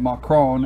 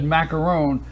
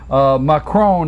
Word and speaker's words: Macron: So when you said macaron, I said that last week, and it took me.